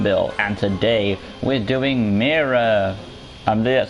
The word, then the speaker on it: Mera: Hey guys, welcome back to LEGO DC Supervillains Custom Build, and today we're doing Mera. That's how you pronounce the name, from Aquaman.